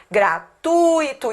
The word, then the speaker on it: gratuito: Gratuito e não gratuito. É gratuit Isso aqui é um ditongo, entendeu?